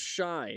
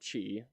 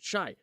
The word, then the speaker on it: Shai: Um Oh, it's pronounced shai, not chi. Okay. Sorry. Uh, who who did he play? Who did she saying that right? Shy. Shy. Gosh dang it. Shai.